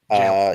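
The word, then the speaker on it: gaol: Jail. The word is pronounced jail.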